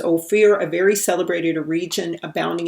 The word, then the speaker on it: Ophir: to king solomon and they pronounce it as oh fear because o fear is like light or gold okay and so the